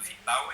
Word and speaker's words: V.tal: Porque quando nós criamos a marca, o Vital, V.tal, pronunciado Vital, ele tinha assim essa conotação de ser um serviço vital e ser uma infraestrutura vital.